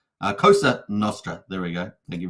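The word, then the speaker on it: Cosa Nostra: these um uh cost Costa norra is says Lies Beneath yeah thanks for that so just say it correctly Costa kosa Nostra there we go thank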